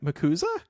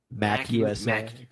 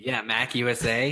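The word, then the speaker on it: MACUSA: On this show, we were like, MUGUSA? Is that how you pronounce it? That's cute and funny. MUGUSA. Mac USA. Mac USA. Yeah, like Mac Machine.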